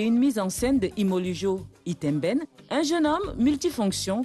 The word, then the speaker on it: Ymolujo: C'est comme ça qu'on prononce? Imolujo.